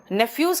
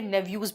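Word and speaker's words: nephews: नेफ्यूज का मतलब भतीजा होता है, कुछ जगह पे नेव्यूज भी प्रोनाउंसिएशन दिया है।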